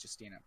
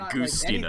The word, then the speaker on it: Giustina: If people who try and pronounce my last name, it's Giustina, not Giustina. It's not Justina. Well, it is Justina. I've heard it Goostina. Like yeah, exactly. I've heard Goostina my entire life.